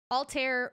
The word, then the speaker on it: Alter: by alter he hasn't um Altair it's like spelled like al Bai are they usually